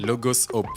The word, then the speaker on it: Logos Hope: délégation du Logos Hope, c'est comme ça qu'on se prononce, non? Logos Hope, yes.